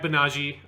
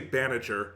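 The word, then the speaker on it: Banagher: unicorn gundam you had banaji um which is not the way that it's spelled it so it feels like a weird pronunciation in english but that's just how it sounds and any other pronunciation is so far away i just can't say it you're not going to say baniager that doesn't it just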